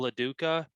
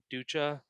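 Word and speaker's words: Lo Duca: with all-star catcher paul laduka um ducha i'm not sure how you say that last you said it right the first time paula duka duka okay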